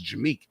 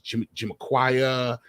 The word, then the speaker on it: Jameek: My real name is Jameek. I was and I was Jimiquia, but Jimique.